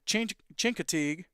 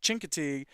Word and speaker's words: Chincoteague: And then Chincoteague. Got it. Man, shout out to Coach Weidman for helping me with those pronunciations. Chincoteague is at Kinston Forest.